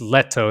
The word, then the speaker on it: Lehto: great to be here is it lito or leto i don't really know how to say it perfectly i think it's leto is the the finnish pronunciation but i guess later